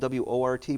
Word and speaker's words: wort: Yeah, it's spelled W-O-R-T, but it's pronounced wort, like it's Okay. spelled W-E-R-T.